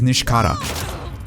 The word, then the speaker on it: Nishikata: because s-h-i like the romaji tren like the pronunciation is sh so his name is nishikata but like you have to sort of have